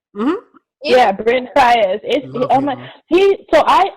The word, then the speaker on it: Faiyaz: Yeah, Brent Faiyaz.